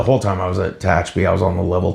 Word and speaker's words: Tehachapi: In 96, you transferred to Tehachapi. Tehachapi, yeah. Tehachapi? Glad I sort of pronounced that right.